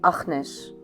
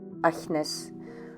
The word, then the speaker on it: Agnes: We in Holland should say Agnes, with the g. Only the people in the south of the Netherlands say Agnes, with the soft G.